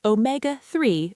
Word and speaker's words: omega-3: It's pronounced omega-3 with the stress on may.